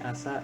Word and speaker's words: 朝: Oh, seperti ini asa cara bacanya, kanjinya.